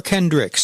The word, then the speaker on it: Kendrick: you as Johnny Kendrick is it Kendrick or Kendricks show I say my name is Johnny Kendrick and we are the Kendricks okay yep the band